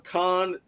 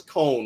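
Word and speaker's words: Cohn: Are you calling him Khan, like jokingly, or are you just saying Khan because you don't know if that's the right pronunciation of his last name? Because it's Cone, right? It's Grant Cone.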